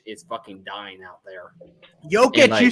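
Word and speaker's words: Jokić: Jokic, And, you said it right.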